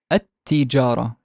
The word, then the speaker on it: التجارة: of the sun letters, I would just kind of double the sound of the th, and not pronounce the lam at all. So how would I pronounce it? I would pronounce it a, التجارة, التجارة. There is no al.